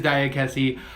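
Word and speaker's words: Diakiese: How they were pronouncing it, and I know we were saying it wrong. Diakese. It is Diakese.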